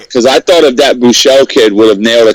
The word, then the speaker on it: Buechele: No interceptions, but I gotta tell you, this Buechel, is that how you say his name for Texas? The quarterback Buechele.